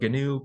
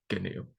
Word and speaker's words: GNU: open source clubs that we pronounce the gnu project as gnu with a hard G out front so this is the